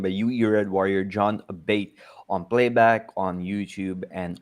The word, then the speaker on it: Abate: Um, so my last name is Italian. Abate is how you say it, and if you want to say it in English, it's Abate.